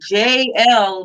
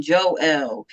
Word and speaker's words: Jael: exactly hidden right so jl makes more sense than joe l because there's no girl